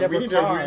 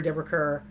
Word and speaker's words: Deborah Kerr: Deborah, I was shocked to learn that Deborah Carr's name is pronounced Deborah Carr. We need to re-edit our entire King and I episode, probably. During the show, I've called her Deborah Kerr, and so Ron taught us something new.